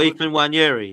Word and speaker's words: Nwaneri: pronounce it lisis skilly no no no nari I can't say it properly Oh e weri yeah weri that's it yeah I need to